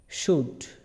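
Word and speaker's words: should: এটা হচ্ছে এটা হয়তো অনেকে পারবেন না আবার অনেকে পারবেন আচ্ছা লিখি এস এইচ ও ইউ এল সুড সুড উচ্চারণটা কি হবে সুড আমি বলে দিচ্ছি আপনারা উচ্চারণটা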